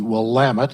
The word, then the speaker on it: Willamette: communities about ten thousand population each and the Willamette and that's how you do pronounce it though while I'm at Valley of